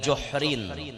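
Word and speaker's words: جحر: Wa ata ala juhrin saghirin, dibacanya dengan juhrin. Juhrin al-hujur bi dhammil jim.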